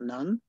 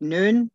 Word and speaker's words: Nun: is properly pronounced noon, not none. Because my grandmother used to joke how Joshua could have been a son of a nun.